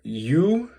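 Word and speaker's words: Ю: This is for you, like in use. So it sounds like the letter U in English, the number 10 looking letter.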